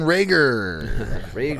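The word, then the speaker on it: Reagor: we're going on to jaylen rhaegar rhymes with yeager uh no again but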